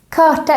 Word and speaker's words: karta: in this word kata karta is how is a map and also here the r is silent and if the r